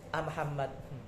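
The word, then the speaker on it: أمحمد: abahnya namanya A Muhammad Tapi karena lesan mereka cepat bacanya amhammad, jadi mimnya seakan-akan di fathah.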